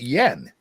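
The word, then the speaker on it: yuan: summer in July um they they pronounce it yen oh they say Yen then I'm the stupid foreign looking at y-u-a-n but that's how they pronounce it Union I guess yes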